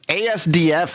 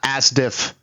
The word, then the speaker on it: asdf: be like hey I'm sorry it's asdf movie not as diff.